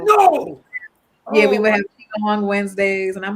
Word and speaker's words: Qigong: And we're going to the Qigong retreat. We're doing it. That's it. Did I say it right? Qigong.